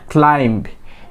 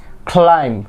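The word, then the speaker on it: climb: লাস্টে কি আমরা বি সাউন্ডটা উচ্চারণ করে থাকি, বাট ইট নট ক্লাইম্ব। এটার correct pronunciation is ক্লাইম্ব, নট ক্লাইম্ব।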